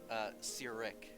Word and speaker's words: Cyric: Oh, by the way, Cyric. Gesundheit. No, that is how it's pronounced.